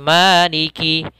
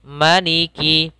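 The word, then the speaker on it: مَلِكِ: malikinas beberapa yang sering terjadi kesalahannya adalah memanjangkan huruf Ma maka menjadi bacaannya seperti ini Maliki Maliki harusnya pendek Maliki kemudian di sini ada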